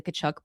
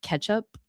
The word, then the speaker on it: Tkachuk: But somebody mentioning that announcers were calling the Kachchuck brothers ketchup, like pronouncing their last name ketchup.